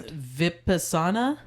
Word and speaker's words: vipassana: the tale um so yeah it's vipassana vipassana okay so at least that's how they were pronouncing it while i was there so well i feel